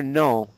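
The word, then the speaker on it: non: So for the word the word for no, okay, you don't pronounce the N at all.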